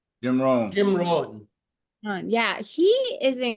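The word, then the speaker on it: Jim Rohn: talking about um Jim it's Jim Ron today pronounce his name correctly Jim Ron Jim Ron yeah he is incredible have you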